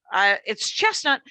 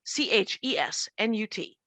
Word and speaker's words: Chesnut: And it's Chesnut with no T, Chesnut. And when you told me, you said it's Chesnut, which I thought was smart because people jump to the T. Mm-hmm. So Laruen, spelled like Lauren, Chesnut, spelled like chestnut, but no T.